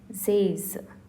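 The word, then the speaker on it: seize: 16 is pronounced as Zays.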